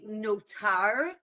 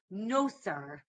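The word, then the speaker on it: נותר: Like I said, there's like I say notar, right, with a taf, but you probably heard it as nosar, right? Nosar, Mhm. because in the Yiddish pronunciation, they would say sa. In, I would say, modern Hebrew, we say ta, right? So notar, right?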